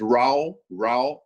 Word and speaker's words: Raul: How do you spell that? It's Raul.